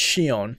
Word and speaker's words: Shion: For one, it's Shion, by the way, how you pronounce his name.